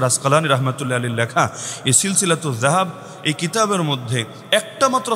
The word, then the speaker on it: সিলসিলাতুয যাহাব: আমি শুনিয়ে দিচ্ছি, বইয়ের নামের অংশ হিসাবেই লেখা আছে সিলসিলাতুজ যাহাব। আপনার মতো বা জাহাব না, সিলসিলাতুজ জাহাব না, এটা তো উচ্চারণটাও শুদ্ধ করে করা যায়, সিলসিলাতুজ যাহাব ফিমা রাওয়াহুল ইমাম আশ-শাফিঈ আন মালিক আন নাফি আন ইবনে ওমর।